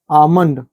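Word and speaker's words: almond: rule देखि यहां पर पहला है आमंड कई लोग आलमंड बोल देते हैं हम भी बोलते हैं जब समझ नहीं आता है जब जानते नहीं थे तब आलमंड बोल देते थे आलमंड बोल देते थे रियल में क्या है आमंड बोलते उसको मतलब होता बादाम एम के पहले लाया तो साइलेंट हो गया यहां पर एम के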